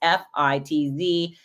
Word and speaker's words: Fitz: It's Fitz. Sometimes people say Fritz, and I'll say, no, there's no R. It's just Fitz, like Fitzgerald or Fitzpatrick, but none of the ending parts, just the Fitz.